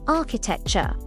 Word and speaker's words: architecture: Architecture. Architecture. That ch makes a k sound.